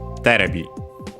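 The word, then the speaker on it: テレビ: In which case it's actually accented on the first syllable, on the terebi.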